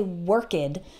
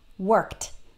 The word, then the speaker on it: worked: has three different pronunciations so in some words like the word work the IDI actually sounds like T okay so we don't say work 'add we say worked worked notice it that you